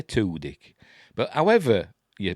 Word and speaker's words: Tudyk: Is it Tudyk or Tudyk? I'm going to say Tudyk.